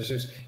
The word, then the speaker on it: Seuss: from Doctor Who uh Dr Seuss you're supposed to pronounce it like not Dr Zeus but yeah somebody once